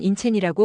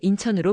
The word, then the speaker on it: 인천: 몽고로로는 인체이라고 발음하지만 한국씩 그대로 인천으로 부를 거예요.